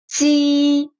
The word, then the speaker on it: Qi: Qi does not blow that much air, but Qi blows a lot of air. Like, Qi, Qi.